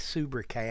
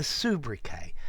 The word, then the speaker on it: sobriquet: will understand it but french words normally in english we cut the last consonant particularly when it's something like a t okay so a subra k it's a humor a